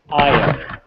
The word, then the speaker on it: I/O: Yeah, you can say it like it's a word instead of two separate letters. I/O.